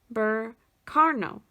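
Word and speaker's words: Berkano: don't hate me so do we have burkano bur carno there we go yep that's how you pronounce it from something small and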